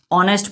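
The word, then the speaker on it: honest: तो लिखा तो एच है लेकिन इसका प्रोनाउंसिएशन क्या निकल के आता है, ओ।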